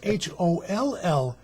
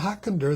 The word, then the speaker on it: Hollander: to change it it's h-o-l-l-a-n-d-e-r that's right okay it's not hawkinder that would make you germanic it's hollander which makes you dutch that's right okay we'll